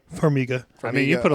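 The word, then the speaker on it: Farmiga: got Vera and I always pronounced your last name wrong formia formiga I mean you put a little English on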